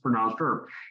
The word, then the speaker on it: URP: So we called it an ERP switch because URP is pronounced ERP.